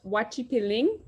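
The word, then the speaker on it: guachipelín: one this is called wachipiling g-u-a is pronounced in Spanish and it is my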